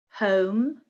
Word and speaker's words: home: And again, this is a really good example of how the spelling doesn't help us, because the spelling O-M-E is the same in A, B and E, but the pronunciation is different in B.